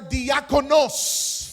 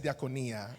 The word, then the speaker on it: diakonos: They are diakonos. Son diáconos. I said it wrong the last time. I said diaconia. That's plural. Okay, anyway.